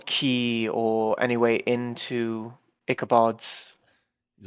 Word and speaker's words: Ichabod: Valzer shakes his as well, and he goes, "No more slander of Inkabob. Inkabob? How do you say it again? Ichabod. Inkabod. Just Ichabod. Ichabod. Keep hearing an N for some reason.